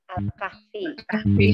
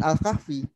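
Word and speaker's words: الكهف: Terus, kalau kita bacanya sesuai dengan bacaannya bahasa Arabnya, itu bukan Al-Kahfi. Al-Kahf. Al-Kaf ya. Al-Kaf. Iya. Iya. Al-Kaf karena nggak ada Al-Kahf, nggak pakai I.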